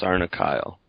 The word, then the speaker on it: Sarnakle: like rhes with Barnacle but it's it is pronounced sarna Kyle and you mentioned that you got the name